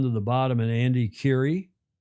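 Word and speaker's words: Currie: the bottom and Andy Curie, I guess that's how that's pronounced, like Madam Curie.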